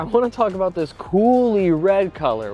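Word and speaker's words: Coulis: One thing though, if we're on the outside here, I want to talk about this Coolie red color, which is spelled C-O-U-L-I-S, but is said Coolie, so I'm assuming that's French.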